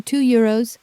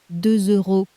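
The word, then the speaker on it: deux euros: 2 euros. On paper, that S at the end is silent, but in front of a vowel, it wakes up as a Z.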